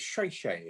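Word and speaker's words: 谢谢: and thank you is it shay shay or something? Shay shay? Yeah. Yeah. Although I'm told, Paula tells me I've always pronounced it wrong, so I'm not going to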